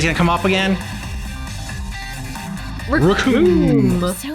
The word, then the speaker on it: Recoome: Recoome. Rhymes with doom.